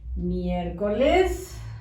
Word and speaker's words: miércoles: Vamos a escribir miércoles. Con acento en la primera E.